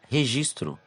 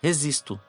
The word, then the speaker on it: registro: dita em lugares diferentes a palavra registro em uma localidade é pronunciada dessa maneira e em outra simplesmente é dito registo compreendeu portanto Ao serem identificados